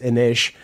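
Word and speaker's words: Inis: The thing about Innis that is pretty, it's actually, I think, pronounced Innish.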